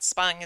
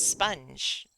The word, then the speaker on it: Spung: Spung is basically the same principle. Like, well, what if it's sponge? It's not, though.